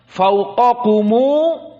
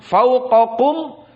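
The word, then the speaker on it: فوقكم: Syahidnya fawqakumu sab'an. Maka di sini bukan seperti jumhur fauqakum sab'an. Lalu bagaimana bacanya? Wasl dari mim al-jama'. Mana mim al-jama'? Kum menjadi kumu.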